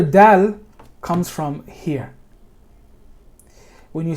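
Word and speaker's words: د: Now, when you're saying the word, the letter dal, dal, this letter is not exactly like the letter D.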